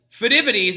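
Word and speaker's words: Pheidippides: me would you so phytopedies is going to be a very important little figure and it's really really funny because like fidivities is another way that you can pronounce his name as well but fidivities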